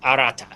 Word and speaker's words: Arata: by the way yes and the name is pronounced Arata AR katari right right anyways ar oh God